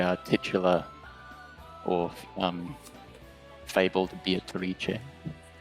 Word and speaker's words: Beatrice: The uh the woman in the portrait there is the uh titula or um fabled Beatrice. Oh, that's Beatarici or Yeah, Beatatrice as some would say.